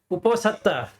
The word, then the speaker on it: Uposatha: How do you pronounce the area? The Uposatha? Uposatha.